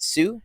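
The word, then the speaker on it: Hsu: message pronounce her name is it sue yep uh from everything everywhere all at once you don't say the H uh uh she's incredible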